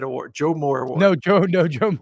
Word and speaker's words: Joe Moore: the the The Joe I say it right Joe Morhead award Joe Moore award no Joe no Joe Mo not Joe